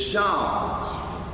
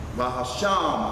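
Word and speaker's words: שם: Because they're writing S-H-E-M. There's no E in ancient Hebrew. It's Sham. Bahasham Hamashiach Yahushua. S-H-A-M.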